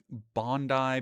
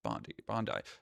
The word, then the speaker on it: Bondi: For months before today's mass killing on Sydney's Bondi Beach, Bondi.